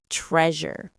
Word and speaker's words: treasure: And finally, treasure. This one's unique because of that sound in the middle, like in leisure.